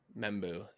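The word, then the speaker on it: Membou: first round pick Armand Meu and I'm going to pronounce this wrong. There it is. Meu, the offensive tackle from Missouri. Um, Membu, thank you.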